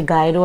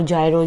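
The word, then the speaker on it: gyro: अच्छा, गायरो और जायरो जो ना दोनों प्रोनाउंसिएशन चलते हैं।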